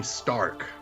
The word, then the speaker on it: STRQ: Struck? Streak, whatever. I feel like it had a fun name. I don't remember what it was. Oh, it's pronounced Team Stark.